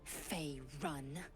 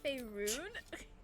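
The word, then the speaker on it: Faerûn: You will educate me on matters of this Fey run. Actually, it's Faerun.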